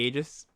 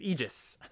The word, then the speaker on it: Aegis: then Abrupt Decay the Aegis. Or Aegis. Sorry, I think I've been pronouncing it wrong. Got corrected on that on the set review. Aegis.